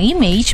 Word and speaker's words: image: Kalau dalam bahasa Inggris kita bilang image, maka dalam bahasa Perancis kita bilang image. Kenapa? Karena A dalam bahasa Perancis sama persis dengan pelafalan A dalam bahasa Indonesia. Maka dibilangnya image.